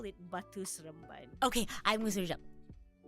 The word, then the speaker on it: Batu Seremban: Okay, Batu Seremban.